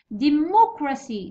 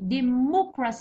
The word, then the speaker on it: democracy: Democracy. Democracy. الكلمات اللي سجدوا بسي يجي stress في الثالث من الاخر. وش هو الاول؟ هو سي والثاني كرا والثالث هو مو. Alors مو.